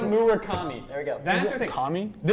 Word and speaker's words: Murakami: Why did I Why did I mispronounce it? Munitaka. Not going to do it. Mura taka muri. It's Murakami.